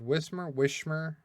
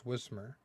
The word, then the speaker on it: Whismur: I've heard Wishmer. It's Whismur because the H is before, so it's Whismur.